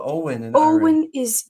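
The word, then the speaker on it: Eoin: you spell Owen in Owen is e o i n that's Owen then the way I think about it is EO yoen that's the way you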